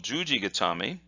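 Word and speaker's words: 十字固め: look like this and that's read jus with a long sound G and then got Tommy okay so what does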